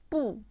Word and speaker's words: 不: The pronunciation of this character is 不, fourth tone, and it means not.